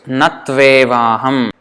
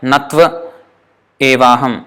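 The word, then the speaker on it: na tv evāham: So it's natvevaham. It has to be pronounced like one word, as if it's this whole thing is one word. This one, tvevaham, tvevaham. It's not like natva evaham. No, natvevaham.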